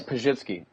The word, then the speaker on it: Pazsitzky: It's Pazsitzky.